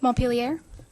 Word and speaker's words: Montpelier: Montpelier? You're Vermont. Right. And pronounced perfectly.